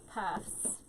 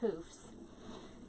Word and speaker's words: poofs: Because I always say puffs and it's poofs. So I don't know if it's just my accent or what, but I always mess that up.